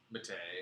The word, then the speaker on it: Mattei: Someone says, going old school, still miss the Bruno Mattei or Mattei? Mattei. Mattei. Oh man. It rhymes with okay. Just like a George Takei.